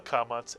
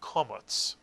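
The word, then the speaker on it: קָמָץ: Both the kamatz and the patach make the vowel sound ah, as in the word father. In Ashkenazic Hebrew, the kamatz is actually called a komotz and makes an aw sound, as in the English word saw.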